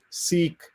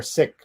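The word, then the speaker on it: Sikh: the word s.i cage some of us uh go out of our way to say seek so that an american ear doesn't hear sick and uh i've been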